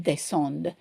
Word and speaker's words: descendent: Because of the y in here, we are pronouncing the d. Here, we don't pronounce the d.